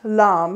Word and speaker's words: lame: is so the lamb it's spelled l-a-m-e like lame but it's pronounced lamb because it's french i am going to